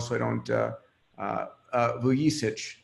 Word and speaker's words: Vuyisich: I don't uh uh vuich is the proper pronounciation um Momo is co-founder